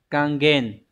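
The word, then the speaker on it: 還元: rất nhiều lần rồi Đây là Hán tự là chữ hoàn và chữ Nguyên đọc là kangen kangen từ này có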